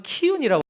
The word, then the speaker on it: 기운: 네, 식굿, 기운은 이제 사쿠 또는 키운이라고 발음이 되는데요.